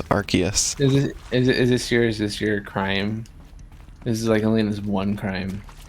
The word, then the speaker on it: Arceus: And it's Arceus. Is this your crime? This is like Elena's one crime. Is that I say Arceus? Yeah. It's because they don't want it to sound like arse.